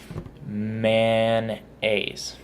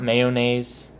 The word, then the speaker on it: mayonnaise: The word mayonnaise is spelled really different than how I say it. Mayonnaise. That's it, just 2 syllables. Not mayonnaise.